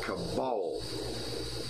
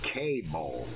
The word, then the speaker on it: Cabal: It's pronounced Cabal. My last name has a very weird definition. Cabal. I keep on saying K-ball.